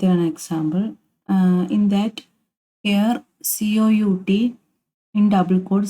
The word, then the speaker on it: cout: Then the identifier COUT, pronounced as Cout, is a predefined object.